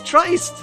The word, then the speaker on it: Trist: Christ, but with a T instead of a ch, or instead of a cr. It's Trist!